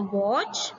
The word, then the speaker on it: watch: Children, you can see here T is silent in this word.